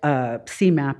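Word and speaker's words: SEMAP: The final overall CMAP, that's how we pronounce this, for the fiscal year ended 23 is 96%, netting us a high performer designation by HUD.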